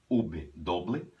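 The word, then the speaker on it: uve doble: letras do alfabeto espanhol se chama do ou ub Doble Lembrando que a v em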